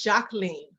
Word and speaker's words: Jacqueline: It's Jacqueline. Jacqueline? Yeah, it's just the French pronunciation of Jacqueline.